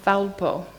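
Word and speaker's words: θάλπω: And it comes from the Greek word thalpo.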